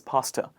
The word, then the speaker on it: pasta: the tur sound correctly it is not it is not da it is pasta a lot of people say pasta they use the the sound in replacement of tur it is pasta next one is the